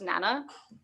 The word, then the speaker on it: Nanya: It's pronounced Nana. Nana. It's spelled with an I, but it's pronounced Nana. Yeah.